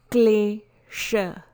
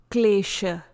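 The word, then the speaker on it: kleśa: Pronunciations for this presentation are Patanjali Yoga Sutra, Klesha, Klesha. Please note, U and H are almost silent and used here only to prevent mispronunciations arising from a sound.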